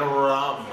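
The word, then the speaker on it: rhum: Whiskey, rye, bourbon, and rum. It's spelled R-H-U-M. Yeah, because, you know, from the Caribbean, crap like that.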